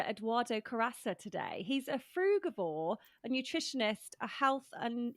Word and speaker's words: frugivore: Well, you've got such an amazing story, and we're going to be talking about what it means to be a frugivore. Am I pronouncing that right?